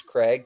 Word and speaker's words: Craig: I will say Greg doesn't annoy me, but it's like, hey, it's not Greg, it's Craig.